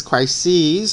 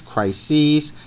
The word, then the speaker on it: crises: they are the parentheses you pronounce it ease and you write SES so the plural form analyses Basie's crises these are Greek words